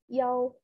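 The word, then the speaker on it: 幺: The number one in a telephone number is yao.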